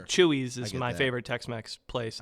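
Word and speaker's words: Chuy's: the tacos I like are at places like Chewies or Natada downtown. So Oh, okay. Like, but they're not really local joints. Like Chewies is my favorite text place.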